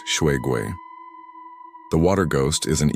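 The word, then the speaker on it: 水鬼: The Water Ghost Shuigui, pronounced Shuigui.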